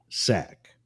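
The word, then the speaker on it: SAIC: special agent in charge s AIC is pronounced sack and it's been a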